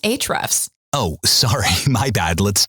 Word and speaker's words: Ahrefs: you're listening to Ahrefs Podcast. Ahrefs Podcast. It's actually pronounced Ahrefs.